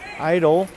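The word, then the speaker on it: Eitel: Idle. Spelled E-I-T-E-L, not I-D-O-L, but pronunciations are relatively the same, especially for a Jersey guy.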